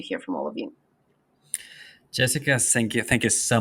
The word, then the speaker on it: Gessica: Jessica with a G because people like um usually they spell it with a J.